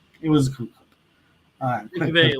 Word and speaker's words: McVay: I'm sure there was some version with him and McVay, or I don't know how he's pronounced that. McVay. It's McVay.